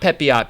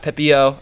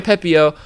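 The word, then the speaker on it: Pepiot: the new new guy Ryan pepio not pepot pepio I just learned that last week so I'm going to try I'm trying to say it right Ryan pepio faced against the blue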